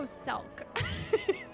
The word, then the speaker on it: Emet-Selch: Oh, Selk. Just pronounce his name like the grape juice.